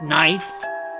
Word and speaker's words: knife: tough I get it like knife as a silent k that one's hard stabbing